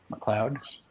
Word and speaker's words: McLeod: McLeod? Yep. How you pronounce his name? McLeod.